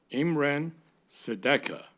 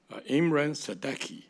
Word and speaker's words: Imran Sadeki: Imran Sadeka, Imran Sadeki, actually, pronounced correctly, to serve on a full term expiring on May 31, 2027.